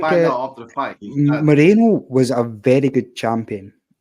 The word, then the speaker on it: Moreno: Moreno was a very good champion. To take the belt from him in front of a majority Mexican crowd. I personally think that Monero won that. It's Moreno, not Monero.